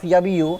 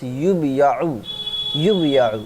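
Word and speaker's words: يُبَاعُ: So instead of yabiu, if this is majhul, then we pronounce yubiya'u, not yabiu.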